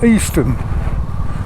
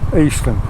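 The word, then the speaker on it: Easton: real pretty little village called uh easn and it's spelled e a s t o n Eastern and it's uh the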